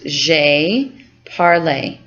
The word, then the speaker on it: j'ai parlé: So this is pronounced j'ai parlé.